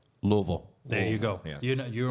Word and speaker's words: Louisville: go up there and call it Louisville, you're probably going to Oh, get your ass yeah, kicked. yeah. They'll get real mad at you. The proper way to The proper way to say it is. Louisville.